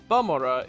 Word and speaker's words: Bamora: one of the reasons that I believe that balmora is the intended pronunciation of the name though much like suit